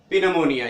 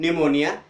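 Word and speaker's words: pneumonia: पढ़ते हैं ना कि पिनोमोनिया या पनोमोनिया नहीं पढ़ते, तो पनोमोनिया नहीं पढ़ेंगे, क्या पढ़ेंगे न्यूमोनिया, क्योंकि पी के बाद क्या है, एन आया है, तो ये जो पी है ये क्या हो जाएगा, साइलेंट हो जाएगा, इसका उच्चारण हम नहीं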